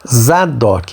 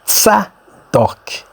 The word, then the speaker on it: Tzadok: Expressar essa palavra Zadok em português, nós falamos Zadok, mas o correto é Tzadok.